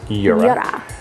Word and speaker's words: Jura: Yeah, we have actually for our coffee needs daily a Jura, and if you're in Europe, it's pronounced Jura. Jura. Jura.